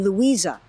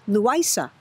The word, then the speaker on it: Louisa: The people who raised me named me Louisa, pronounced by many as Luisa.